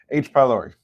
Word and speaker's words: H. pylori: Emphasis on the ending.